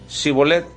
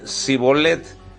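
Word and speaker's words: שִׁבֹּלֶת: En este caso, los de Galad decían Shibolet, que significa agua que corre, y los de Efraín no podían pronunciar la H con la S y decían Sibolet, que significa una carga.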